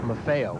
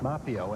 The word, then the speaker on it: Maffeo: about the fact that his kids like it when the name is pronounced MAFO of course we've always pronounced it mafio as as as everyone